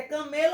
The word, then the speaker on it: camelo: Vocês vão dizer se é camelo ou camelô, tá certo? Cabelo rima com camelo ou camelô? Camelo.